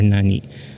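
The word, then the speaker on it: 何: I'm telling you guys the default reading should for this candy should be Nani or if otherwise a person correct you that uh you should be read as none so if uh if if others will not correct you as none so I suggest that you by default read this as Nani so the confusion is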